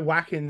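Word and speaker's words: Wacken: uh uh and WEA wackin Vin or W whatever people it depends if you're American or German how you pronounce it uh but like it's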